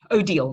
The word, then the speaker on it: Odile: you were to say how do you say your name odile oh deal yeah oh deal so odile i'm going